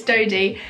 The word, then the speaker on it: Dodie: her name right because I think I said dotty before and we're friends like no that's not how you say it's toady and I was like